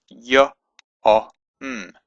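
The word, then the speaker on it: יום: So it's y, o, m, yom, yom.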